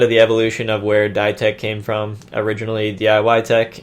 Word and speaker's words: Dietec: So my name was actually Dietec for a while, and I just started pronouncing it Dietec, like DIY pronounced die.